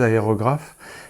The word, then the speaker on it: aérographe: Je vais le prononcer à la française, aérographe.